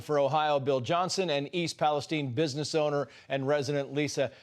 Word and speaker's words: East Palestine: It's not East Palestine. It's East Palestine. And if he'd been there, he would know that.